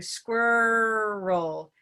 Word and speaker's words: squirrel: So they don't give enough time for any kind of movement after the R, which you need to have. You can't go straight from the R to the L without moving the tongue in a vowel-like way. Exactly. So I tell them to make it 2 syllables, and it works much better.